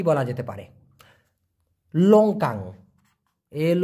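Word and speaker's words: longkang: লাউট clear ব্যাপারটা এবার কি বলা যেতে পারে লঙ্কাং এল ও এন জি কে এন জি লঙ্কাং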